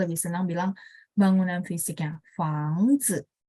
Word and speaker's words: 房子: 房子. Zi ini nada 5. Jadi bacanya juga pendek ringan. Teman-teman berasa nggak dia dapat pengaruh dari si depan. 房子 gitu ya. 房子 gitu. Tapi pendek dan ringan. 好，再来是 berikutnya ya, tadi jia